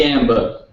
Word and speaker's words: Gamba: I believe on Twitter is that correct it's Gamba it's Gamba oh man gamb